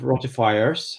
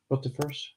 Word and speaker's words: rotifers: But in those other cases, there's basically been live rotifiers. That's how you say it, right? Rotifers.